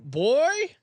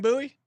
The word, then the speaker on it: Bowie: Boo Bowie. Yeah, like Sam Bowie. Like Sam Bowie.